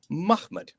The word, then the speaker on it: Muhammad: So the 4 consonant would have existed, but how do you then pronounce mim, ha, mim, dal? Muhammad.